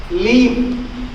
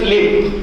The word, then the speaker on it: live: He said, leave. Correct pronunciation is live. L-I-V-E is live, not leave.